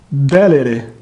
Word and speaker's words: delere: Estará na penúltima se ela for longa. Delere. E estará na antepenúltima se a penúltima for breve. Legere.